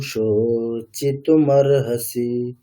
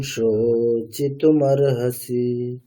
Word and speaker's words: শোচিতুমর্হসি: মানে চিতুমর্হসি এমন হুম, ভাবে বলবেন যেন শুনে মনে হয় যেন ওটা একটা শব্দ হয়ে গেছে। চিতুমর্হসি যেন একটা একটা ওয়ার্ড, শুনে এরকমটা মনে হবে। ঠিক না? প্রোনাউন্সিয়েশনটা সেইভাবেই হবে। নৈনম শোচিতুমর্হসি।